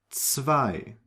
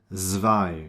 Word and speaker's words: zwei: you say streets, and take this sound to the beginning of the word, and then you get zwei, 10, zum, Zug, and Zeit, right? So you do not pronounce it zwei or sehen, zum. No, it's always ts, Zug, Zeit.